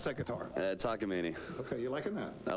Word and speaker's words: Takamine: You're playing how do you pronounce that guitar? Takamine.